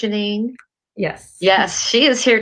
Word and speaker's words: Jeanine: today somebody really special janine melish am i pronouncing your name correct janine yes yes she is here today the topic